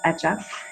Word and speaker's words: Hecha: our brand name is etchab and it's a word that in spanish it means made or created in terms of pronunciation the h is silent so it's just etch up and we decided to